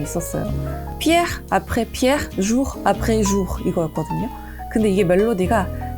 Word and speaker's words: Pierre après Pierre, jour après jour: 막 외우시고 그랬었는데 그 중에 진짜 힘들어 하시던 발음이 있었어요. Pierre après Pierre, jour après jour 이거였거든요. 근데 이게 멜로디가 Pierre après Pierre, jour après jour 이거예요.